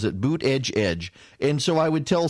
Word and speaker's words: Buttigieg: And then, the Buttigieg campaign came out and kept telling people, it is boot edge edge. That's how you pronounce it, boot edge edge.